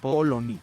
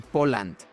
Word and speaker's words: Poland: Bueno, pues resulta que en inglés no se dice polony, polsk No, mi rey, se dice Poland.